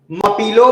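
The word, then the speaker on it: Malpelo: मपीलो island, L silent है, मपीलो island.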